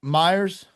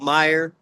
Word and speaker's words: Meyer: Brandon, is your last name pronounced Myers? It's without the S. Yeah, Meyer. I apologize. Well, Brandon Meyer, thank you for being here and welcome to the Oddass podcast, man.